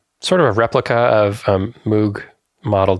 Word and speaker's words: Moog: mugs you had and I know I'm pronouncing that wrong it's somewhere between Moog and Moke Moog mwg it was